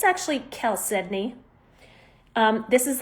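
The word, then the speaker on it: chalcedony: It's It looks like it's pronounced Chelsea, which is what I thought it was called for a long time. It's actually Kel Sedney.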